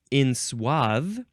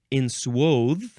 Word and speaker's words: enswathe: Next is, you can say this a few ways. Enswathe, enswathe, enswathe, or the first syllable can be can be N or in.